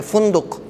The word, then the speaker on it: فندق: فندق, صحیح تلفظ فا پہ پیش پڑھیں گے, فندق.